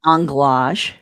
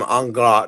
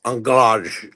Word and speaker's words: anglage: Might be a bit of anglage. There's some angl. No, you have to say it like Swiss anglage.